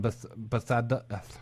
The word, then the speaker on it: Bethesda: And Elder Scrolls Online from Bethesda. I can't pronounce it.